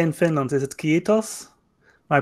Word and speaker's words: kiitos: Is it kiitos? My pronunciation is going to be rubbish, but...